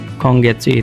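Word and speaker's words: 今月: Kedua ada ini bintangin soalnya cara bacanya berubah. itu artinya hari ini itu juga bakal ada kongget kongetsu itu bulan ini.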